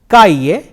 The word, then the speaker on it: calle: e la la ah it can either be pronounced Sevilla or Sevilla Calle say ah la la calle Oh Chi Chi